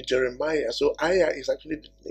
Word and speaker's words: Jeremiah: trying to pronounce but you can't go and call the name jerema right you can't it has to be Jeremiah so a is actually